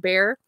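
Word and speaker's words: Bexar: we have a county here in Texas called bear uh but it's spelled b x a r so a lot of people say bear but it's bear I keep okay this this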